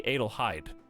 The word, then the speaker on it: Adelheid: Is it a hard E? Or like an I sound? I've never had to say this. I think it would be Adelheid. Like tide.